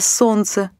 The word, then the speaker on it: солнце: и так сделаем вывод когда в слове встречаются сразу три или четыре согласных один из них может не произноситься так не произносятся звуки о слове солнце словах лестница окрестность до словах сердце праздник словах чувство здравствуйте буква обозначающая не произносимый